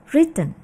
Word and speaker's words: written: Pada kata ini W-nya merupakan silent W. Jadi kita tidak mengucapkan W-nya. Oke. So, yang betul adalah written.